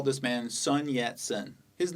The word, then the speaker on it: Sun Yat-sen: standardized Chinese called Mandarin this man's name is pronounced son John shun though he did speak Mandarin he natively spoke Cantonese which means he would have pronounced these characters quite differently one way to romanize the Cantonese pronunciation of these characters gives us this and that's why we say Sun yat-sen romanization means transcribing the